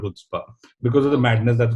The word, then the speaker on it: Chutzpah: इस चीज को, मैं चुचपा चुचपा बोलता रहता था इसे, क्योंकि उन्होंने कहा था कि नहीं है Chutzpah है, सी साइलेंट है, इट्स अ हिब्रू शब्द.